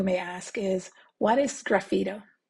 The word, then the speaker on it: sgraffito: Well, the first question you may ask is, what is sgraffito? Sgraffito, like they pronounce it in Italy, simply means scratching in Italian.